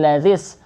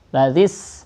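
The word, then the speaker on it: كمثل الذي: Kamasalil lazis, alif lamnya kebaca, namanya alif lam qamariyah. Lazis, jangan lazis, ini bukan qalqalah. Tau, cukup di ayun, ya.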